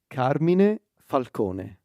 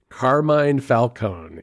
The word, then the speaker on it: Carmine Falcone: my guess is that in America they pronounce his name as Carmine Falcone yes they do okay actually this Italian name would be Carmin Falcone yes that makes sense